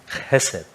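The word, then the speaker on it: חסד: दूसरा शब्द जो है परमेश्वर के दिल को बयान करने वाला, वो है हेसेद। जब हम प्रोनाउंस करते हैं उसका खा आता है मगर वो साइलेंट है, हेसेद।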